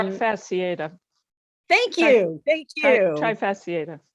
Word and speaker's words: trifasciata: Yes, yeah, this is the Sansevieria trifascacia. Excuse my pronunciation. I tried to learn the pronunciations, but I didn't get there in all of the cases. I think it's Um, trifasciata.